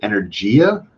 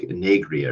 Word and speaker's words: Energia: Composer Studio and in, I guess I've been pronouncing it wrong. I think it's Energia, but I think there are videos I was watching, it's like Enegria or something like that, which I guess sounds Italian-ish. I'm going to probably just